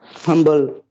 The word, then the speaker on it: humble: Yes, the pronunciation is humble. The rule doesn't apply in this particular word. I taught you a golden rule. Whenever MB are together at the end stage of a word, you are supposed to pronounce it.